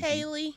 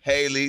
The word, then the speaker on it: Halle: All right, DDG, Haley, Holly. I don't know what. How you say it, KeKe? Haley. Haley.